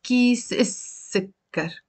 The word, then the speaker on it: كيس السكر: And here, كيس السكر, pronounced as كيس السكر. So we're not pronouncing the lam.